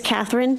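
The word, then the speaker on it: Kathryn: tell me your name please my name is Catherine and it's spelled k-a-t-h-r-y-n is d-o-o-l-i-n what do you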